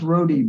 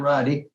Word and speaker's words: Roddy: live okay very good my name is pronounced Roadie by the way thank you Brody Brody is not Roddy anyway Minor Detail um